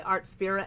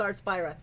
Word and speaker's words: Artspira: when I use my art spirit app artp I'm even saying it wrong artp that's I'm so sorry it's supposed to be Inspire it's supposed to be a the SP so it's art spy um when I am